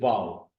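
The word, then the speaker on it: واو: If you are wondering about how to pronounce it, that will be pronounced like wow, लेकिन उसमें वो expression नहीं होगा आपको, यानी उस एक्सप्रेशन देने की जरूरत नहीं।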